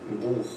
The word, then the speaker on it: Buch: We pronounce this in a very special way. For example, we have the phrase ich. Ich. Ich means I. Or we can also take the word Buch. Buch.